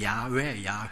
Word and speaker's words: 야훼: 뭐 이렇게도 발음하게 됐는데, 히브리 발음으로 보면은 야훼가 본 발음이라고 볼 수가 있습니다. 여호와는 한글화한 그런 발음이다, 이렇게 생각하면 되죠. 우리가 신약 성경에서도 아테네인데 우리는 아덴이라 그러잖아요. 아덴 그렇잖아요. 다르소인데 우리는 다소 이렇게 말하죠. 한글화한 것이죠. 그래서 원래 발음은 야훼가 맞습니다.